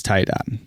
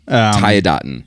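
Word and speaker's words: Tiadaghton: pronunciation is Tayadaten. Tayadaten.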